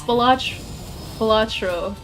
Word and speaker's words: Balatro: It's Balatro.